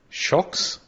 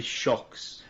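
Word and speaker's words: Shokz: the brand is called it's shkz shocks is how I would pronounce it but I don't know s-h-o-k-z sorry oh yeah that would be shocks but what it is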